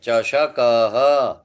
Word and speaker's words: चषकः: आसंद, आसंदः, चषकः, चश दंत, नहीं, च श। श पूरा उच्चारण होना चाहिए। चषकः।